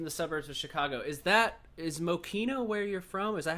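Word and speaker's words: Mokena: town name right, because a lot of the people that have mentioned that song say like Mokina or like say it wrong. Yeah, Mokina. But yeah, I've heard that too, but Mokina is actually correct.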